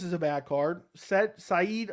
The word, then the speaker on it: Said: a bad card set saeed i think is how you pronounce it nurmagomedov versus douglas